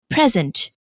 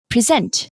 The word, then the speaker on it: present: as nouns for example present where the stress is usually on the first syllable or verbs for example present where the stress is on the second syllable generally I found that